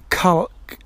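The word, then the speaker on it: Calke: And there's a place called, there's like a Calk Abbey, it's spelt with a C, like C-A-L-K-E.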